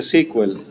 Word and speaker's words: SQL: Bueno, ah, SQL se pronuncia sequel.